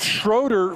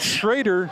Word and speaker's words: Schroeder: It is Coach Schroeder from Dixie State, not Coach Schrader, former Pineview assistant. So his name is Schroeder.